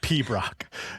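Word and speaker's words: piobaireachd: their own classical music tradition called the the Pab Brock. And it's funny, this word is spelled P I O B A I R E A C H D, but it's pronounced P Brock.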